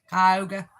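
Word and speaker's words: Cuyahoga: GPS because it didn't know how to pronounce Kyhoga. I only know how to pronounce it because I lived there for a while. Kyoga.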